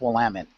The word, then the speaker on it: Willamette: It's pronounced Willamette.